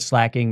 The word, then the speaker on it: Slaking: to be perfectly honest never once considered that it wasn't slaking I understand that slacking makes more sense I've started saying slacking